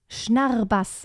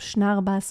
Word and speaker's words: Schnarrbass: Is there an example I can look up of Schnarrbass? Okay, let me actually type it out how to spell it.